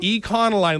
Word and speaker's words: Econoline: Econoline. Like economy. Econoline. Econoline. Econoline. You're now you're hard pronouncing the e.